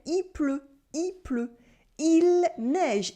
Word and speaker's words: il pleut: We say il pleut, il pleut.